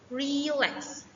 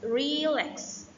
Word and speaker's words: relax: On verbs, usually the stress falls on the second syllable. Example, relax. For example, is relax.